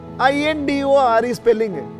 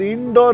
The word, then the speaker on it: Indore: Recently, another example: "The spelling of Indore is I.N.D.O.R.E. So I would pronounce it as Indoor…Indoor..." Then someone corrected me that it is not pronounced as indoor.